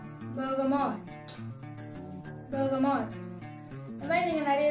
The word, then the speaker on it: bergamot: இப்போ வந்து அது மூணுத்தோட சேர்த்து நம்ம வந்து ப்ரொனவுன்ஸ் பண்ண ட்ரை பண்ணலாம். பெர்கமாட் பெர்கமாட் பெர்கமாட்.